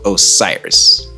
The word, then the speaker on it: Osiris: guys all serious really the game is called Osiris that's how it's pronounced announced and you couldn't